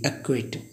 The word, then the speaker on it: acquit: अब गाइज यहाँ पे देखिए क्यू से पहले भी सी आए तो सी को साइलेंट पढ़ते हैं। जैसे लिखा है ACQUIT, एक्विट, इसका अर्थ है दोष ठहराना।